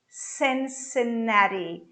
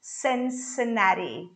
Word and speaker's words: Cincinnati: and another one uh cincinnati cincinnati this t becomes a flat t so what do you pronounce is cincinnati cincinnati the beginning sen you're going to pronounce with the sound of e all right still in